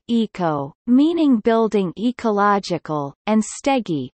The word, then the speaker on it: oiko: The so-called Oikostegi, Greek Oiko, pronounced eco, meaning building ecological, and stegi, pronounced stegi, meaning roof abode shelter, was inaugurated in September 2008.